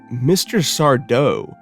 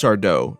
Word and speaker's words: Sardo: the grand Return of Mr sardo or rather as I should say it's just sardo no mister and Accent on the dough but man did I